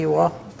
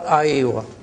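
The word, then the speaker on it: أيوه: countries, dialects, they say Iwa or Aiwa. In the cities, they say Aiwa. In the countryside, they say Iwa. And the countryside pronunciation is the correct one.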